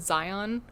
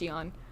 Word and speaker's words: Xion: And then Xion, hers, when I was a kid, I pronounced it Zion, or Exion, because I didn't know how to pronounce it. It's just Xion.